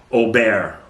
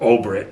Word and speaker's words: Aubert: Two of his original winemakers was Helen Turley, one of the most famous winemakers ever in California, and Mark Aubert, or Obert, however you want to pronounce it.